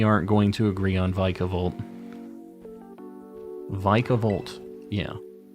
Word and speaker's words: Vikavolt: on vikavolt vicavolt yeah please don't tell me it's vicavolt vicable oh my God stop it why is it Vic what is the like vikavolt sounds so much cooler vikavolt vicavolt is in the anime oh God stop it